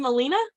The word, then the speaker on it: Molina: saying your name right is it Molina yes you're saying it right so good guess I